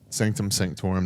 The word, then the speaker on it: Sanctum Sanctorum: yeah, I don't think I can't really see the Sanctorium, Sanctorum, but I think yeah, it's called. Sanctum Sanctorum.